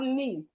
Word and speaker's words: knee: We have knee. Knee start with K, but the K is silent.